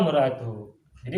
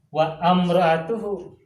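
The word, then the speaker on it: وامرأته: Wa muratuhu. Jadi bukan wa amratuhu, tapi wa muratuhu. Bacanya diwasol.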